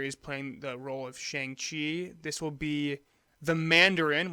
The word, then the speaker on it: Shang-Chi: out February 12 2020 Shane chai in the legend of the ten rings again when you when you pronounce these things incorrectly shang-chi and the legend the